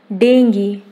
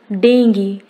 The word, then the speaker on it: dengue: Dengue. Correct pronunciation is dengue, not dengue.